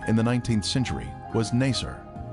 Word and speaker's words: Nasr: Its former name in the 19th century was Nasr. This pronunciation is similar to Nicer, a village that the Babylonian Berosus described as being near the Ark site.